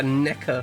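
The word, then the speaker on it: Nekker: not a Yamaha foot switch it's it's a NECA foot switch n e k k e r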